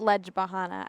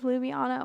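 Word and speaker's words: Ljubljana: the last update was it's not ledge bahana I know I pronounced that wrong it's Lu Luana lubiana oh my God I just I don't I think that's it cuz mates at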